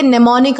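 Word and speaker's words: mnemonic: Word देख सकते हैं इसमें जो एम एम है ना स्टार्टिंग वाला एम ये मतलब कि साइलेंट है। इसे हम कैसे प्रोनाउंस करेंगे? निमोनिक हम उसे कहेंगे।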